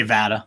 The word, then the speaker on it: VATA: We say VATA.